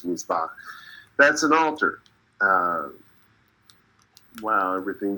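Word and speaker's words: מזבח: Let's start off with Ve'et, so it's an, and then there's a pointer, Mizbach, or Mizbach, depending on how it's spelled in the sentence. Here it's Mizbach.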